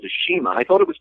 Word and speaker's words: CIMA: wrestler who's called the shima i thought it was pronounced seema c-i-m-a i only found out a little while ago that he pronounces it shima now and that's where